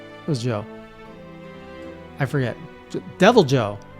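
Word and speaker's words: Deviljho: Devil Joe. Not Devil Ho, by the way. Not pronounced like the Spanish, but Devil Joe.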